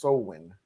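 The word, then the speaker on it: Samhain: It's pronounced Sowin.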